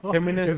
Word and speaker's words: Géminis: Son Géminis, you know? Géminis That's y how you say it in Spanish.